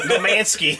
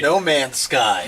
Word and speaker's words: No Man's Sky: No Mansky. I don't say it properly. No Man's Sky.